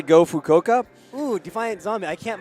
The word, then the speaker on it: Fukuoka: Are there any fans of Fukuoka? Am I saying that right? I mean, Can somebody pronounce it out for me? Fukuoka.